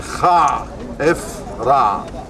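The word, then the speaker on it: Khafre: The proper pronunciation to the Shafrin, Kha, F, Ra.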